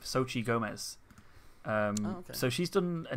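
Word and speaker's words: Xochitl Gomez: and i have uh seen how to phonetically pronounce her name sochi gomez um so she's done a netflix series called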